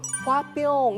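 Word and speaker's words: Hwa-byung: 영어로 읽었는데 발음이 화뿅 이렇게 나는 거예요.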